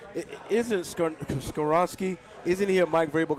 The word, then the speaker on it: Skoronski: Isn't Skoronski? Isn't he a Mike Vrabel guy anyway? You got it. Way to go. Come on, man. Skoronski. Isn't he You've been saying Skonarski all day.